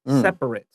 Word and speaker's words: separate: If it's a verb, the ATE has a long A sound, separate. But this isn't a verb, it's an adjective. So the ATE sounds like a short I, separate.